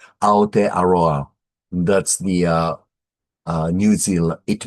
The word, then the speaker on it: Aotearoa: Aotearoa, Aotearoa.